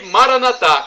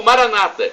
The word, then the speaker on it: Maranatha: Deus todo-poderoso ele proverá e Maranatha como dizemos os católicos ou Maranata como dizem nossos irmãos separados os evangélicos ou protestantes não importa a pronúncia vem do aramaico